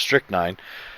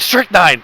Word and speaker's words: strychnine: So quick interjection about strychnine.